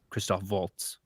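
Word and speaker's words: Christoph Waltz: uh chris t-o-p-h w-a-l-t-z it's spelled like walt's the dance but he's german so christophe waltz yeah uh i'll send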